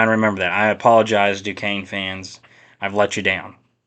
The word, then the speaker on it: Duquesne: Actually, I'm gonna look up how to pronounce this. We're gonna look up how to pronounce it during the podcast. Just stick with me here. Duquesne. That's how you pronounce it. Duquesne. That does not look. I guess it's French or something. That does not look like Duquesne at all.